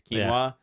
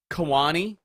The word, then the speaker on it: quinoa: was struggling to say quinoa he didn't know it's quinoa and he pronounced it in every possible way that those letters could be arranged in kawani he called the kiwanis